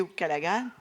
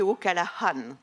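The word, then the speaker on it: O'Callaghan: ce matin avec ou callaga alors on prononce pas le G il m'a expliqué tout à l'heure on dit au Calahan voilà un auteur irlandais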